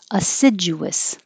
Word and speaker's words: assiduous: Assiduous. And the vowel in the stressed syllable is I, like hit.